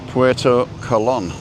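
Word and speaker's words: Puerto Colón: There's a little tick over the O, so that's how you pronounce it. Puerto Colon, which is the port of Columbus.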